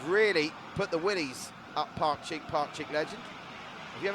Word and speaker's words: Pakcik: to thank Mohammed classic he said it right it's Park cheek Park cheek legend I'm getting it right